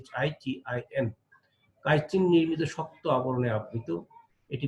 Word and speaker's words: chitin: প্রাচীর বা অন্তঃপ্রাচীর কাইটিন, এখানে মূলত ইংলিশ কাইটিন বানানটা ছিল এমন হয়ে গেছে আর কি, CHITIN, কাইটিন নির্মিত শক্ত আবরণে আবৃত।